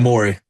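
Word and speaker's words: Omoruyi: men with Grant Nelson and of course Clifford Omari as well last year. I think that's how he pronounced his name. It was a little bit Amorei.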